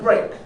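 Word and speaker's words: brk: not a dog okay we usually call it break okay this is the place called break why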